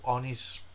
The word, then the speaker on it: oni: And there's also demons and demon worship by demons in that blog was called unis or onis. How do you pronounce it? It was ONI. Really like the Japanese version also.